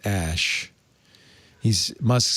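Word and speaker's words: Æ: said it's the unknown X AE is pronounced ash so obviously the kid's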